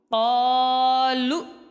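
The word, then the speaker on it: قالوا: کے ساتھ ملائیں گے، قاف الف زبر قا، لام حمزہ پیش لو، قالو۔ اس حمزہ کو ہم نے جھٹکا دینا ہے، کیونکہ حمزہ ساکنہ ہو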